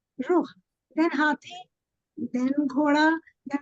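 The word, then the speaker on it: rukh: So Hathi was Ruh, R-U-K-H, they used to pronounce as Ruh.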